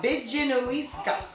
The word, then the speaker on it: Bidjinowiska: P's in the Mi'kmaq language are pronounced with a B. Really? Yeah. Bidjinowiska.